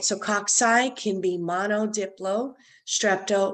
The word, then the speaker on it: cocci: you have cocci um don't pronounce it caucay it's cocci um they're spherical round uh